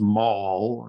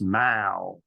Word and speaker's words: The Mall: I was in London it's not pronounced Maul as an American would but it's pronounced Mao so I will try